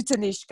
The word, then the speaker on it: Tanishka: I'd love to introduce you to this to tanishka am i pronouncing your name right yes thank you and